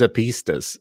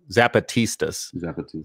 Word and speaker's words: Zapatistas: same thing with his a pistas of Mexico and I'm saying the name wrong zapatistas yeah of Mexico overthrew